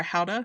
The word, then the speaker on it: Gouda: Was it Gouda or Hauda? It was Gouda. Yeah, I think it was Gouda, or did I do that wrong? It's they pronounce it Hauda there, but we all pronounce it Gouda.